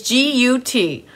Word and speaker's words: Gutierrez: It's G-U-T-I-E-R-R-E-Z. Gutierrez, maybe? Like if the Z is silent.